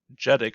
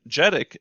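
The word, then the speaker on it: JEDEC: assignment as well but the j e d e c number or genic i think is how they pronounce it is 220. and jedick is actually another organization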